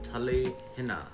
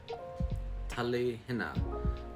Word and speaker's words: Talihina: A lot of people pronounce it Talihina, but it's actually pronounced Talihina. Talihina.